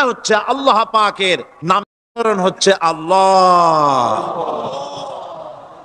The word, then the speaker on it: আল্লাহ: আল্লাহ পাকের উচ্চারণটা হচ্ছে, আল্লাহ পাকের নামকরণ হচ্ছে আল্লাহ। মুখটা একটু গোল হয়ে যাবে, বলেন আল্লাহ আল্লাহ আল্লাহ।